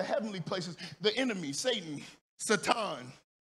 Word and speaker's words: Satan: places, the enemy, Satan, Satan, that's how you pronounce it, really. I just don't. It is. It's Hebrew. It's Satan.